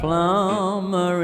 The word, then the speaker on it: plumber: Carol was a plumber in my zone. No, è vero, non si pronuncia il B, hai capito? Sì.